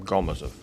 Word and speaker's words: Gomozov: The next report will be made by Gomozov from NITP. Dear colleagues, I'm happy to welcome all of you. I'd like to correct the moderator. The stress is on the first syllable in my last name, Gomozov.